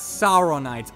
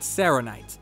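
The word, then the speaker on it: saronite: talking about his armor Boomstick accidentally pronounces it as saon night's armor before correcting himself and calling it sanite I like to think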